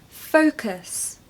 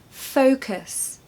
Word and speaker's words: focus: love singing number two focus focus as you can imagine this can cause some problems it sounds like a certain very popular swear word doesn't it the secret